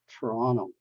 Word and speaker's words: Toronto: popular city in Canada you pronounce is as Toronto Toronto not Toronto Toronto so this are just